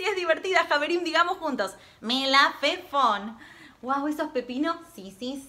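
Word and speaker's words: מלפפון: Se dice melafefón. Pero es una palabra muy divertida, muy graciosa de decir. Probá. Melafefón. Sí, es divertida, Javerim. Digamos juntos. Melafefón.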